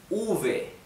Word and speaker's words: uve: It's called uve.